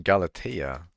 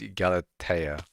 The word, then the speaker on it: Galata: Very, am I from Galatia? I am not. I'm from the dwarven mines. Did you just say Galati? No, it's pronounc No, it's Galata.